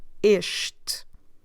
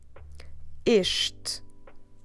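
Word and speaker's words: este: with the sound e isht drop the last e at the end as always isht okay so isht is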